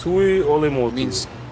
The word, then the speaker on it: Tuiolemotu: So Tuiolemotu It means king of the island.